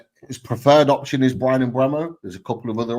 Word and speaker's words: Mbeumo: I keep saying Brian Mbeumo is how you pronounce it, because he did a video a while back.